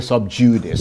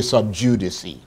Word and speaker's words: sub judice: Nigerians say sub judice, but it's actually sub judice. That's what it, that's the way it's pronounced.